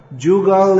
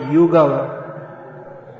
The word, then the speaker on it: Jugal: Jugal is Bengali pronunciation of Yugala. Yugala, which is Sanskrit, and becomes Jugal. Jugal. Yugala, Jugal. Therefore, Radha Krishna Pranamo Jugala Kishore is the correct pronunciation, because it's a Bengali song.